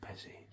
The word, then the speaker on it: Pesci: Is it Joe Pesci or Joe Pesci? Pesci.